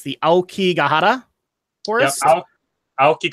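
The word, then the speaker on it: Aokigahara: I murder this I'm sorry but it's the alkie gotta oh ok Cohutta okay that's how you say it also commonly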